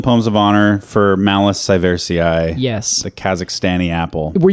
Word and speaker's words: sieversii: 6.8 golden poems of honor for Malus sieversii. Yes. The Kazakhstani apple. Were you saying a moment ago that I add several syllables in Yes, there?